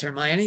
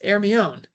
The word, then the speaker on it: Hermione: Oh no, that's not pronounced Hermione, that's Hermione.